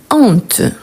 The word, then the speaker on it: honte: Mais attention, on ne dit pas cette honte, on dit cette honte. Pourquoi cette honte? Car c'est un H aspiré. Donc, je ne peux pas prononcer ensemble. Donc, je dis cette honte. OK? Donc, cette honte. Et pas cette honte. Pourquoi? Parce qu'il s'agit d'un H aspiré.